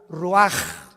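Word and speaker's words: רוּחַ: Así como suena, se pronuncia la CH en hebreo como J, Ruach.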